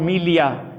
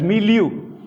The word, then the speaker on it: milieu: have a social milieu which british you know called melia but the americans prefer to pronounce it as milieu our environments our environments